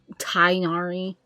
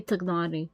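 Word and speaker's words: Tighnari: I don't remember how they say his name, and honestly, how they say their names in Genshin doesn't mean much considering how often they mispronounce the names, canonically. Looking at you, Tainari. It should be Tagnari.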